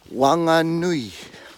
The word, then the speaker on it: Whanganui: Just say it quicker. Wa, nga, nui. So the nui, the last part, you've got to actually roll it together. Not pronounce each letter in that last part, or else you get nui. Then you'll start sounding like from a different island altogether.